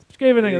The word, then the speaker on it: Scheveningen: The Dutch guys are always quite impressed with my pronunciation, even though I messed it up there. Scheveningen, there we go.